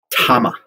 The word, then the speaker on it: Tama: question out of the way how do you pronounce the name and i was told by uh by charlie hayashi tama and you know if you if you know